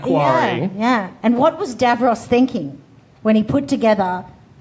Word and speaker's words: Davros: I think you're pronouncing his name incorrectly, however, because all of the YouTube comments, I know this will trigger people, it's apparently pronounced Davros.